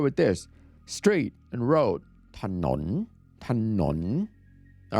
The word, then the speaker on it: ถนน: Thanon.